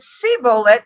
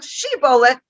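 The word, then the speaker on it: shibboleth: if they caught somebody they would ask them to pronounce the word she bullet and if they said sea bullet instead of shibola they would know that he was really an aphromite and that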